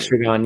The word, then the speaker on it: Estragon: I pronounced it right. Estragon, yeah.